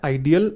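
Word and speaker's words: ideal: तो बस पहले वर्ड की प्रोनाउंसिएशन डिफरेंट है, बाकी दोनों की सेम है, आइडियल, आइडल और आइडल।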